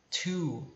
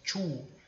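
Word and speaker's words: two: com ele pronto o número dois a gente pronuncia tio tá algumas pessoas acham que a pronúncia tu só que não é bem tio é mais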